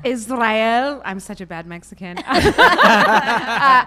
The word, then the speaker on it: Israel: You have to roll your tongue. Israel.